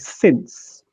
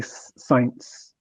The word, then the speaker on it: since: Remember, this is something that happens very much in with Spanish speakers, the word since. A lot of Spanish speakers, especially the lower levels, say science because they read it as it's spelt.